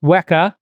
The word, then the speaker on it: WEKA: having me so wak is pronounced as any Greek unit so you probably know